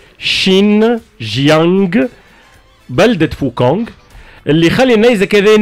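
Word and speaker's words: 新疆: مقاطعة شيانغ يانغ بالصين شيجي يانغ خلنا ننطقها بالكده شين جيانغ بلدة فوكونغ اللي خلي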